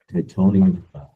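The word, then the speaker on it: Timonium: MJC Laurel Park Fall Meet, number 3, MJC Titonium, that's how it's pronounced, and now number 4, Kentucky Downs.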